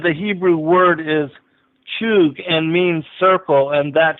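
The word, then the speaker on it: חוּג: He said the Hebrew word is chug and means circle, and that should be final.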